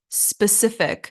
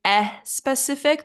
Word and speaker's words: specific: number five is specific specific a lot of people say e specific they add an e sound at the beginning but it should just start with an S specific specific and another